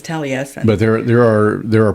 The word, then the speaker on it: Taliesin: But It's like it looks like Talesian, but it's Taliesin.